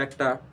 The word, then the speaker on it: একটা: এটির প্রকৃত উচ্চারণ হচ্ছে এক। তাহলে একের পরে যদি আমরা একটা ট যুক্ত করি অর্থাৎ টা, তাহলে হয়ে যায় কিন্তু একটা।